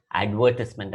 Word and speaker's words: advertisement: നാമപദമായിട്ട് എഴുതുമ്പോൾ advertisement എന്നാണ് pronunciation.